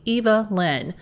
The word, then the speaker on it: Evelyn: Apparently, it's supposed to be Eva Lynn.